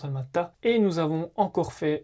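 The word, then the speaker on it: Almaty: C'estcrit Almati mais qui se prononce Almata.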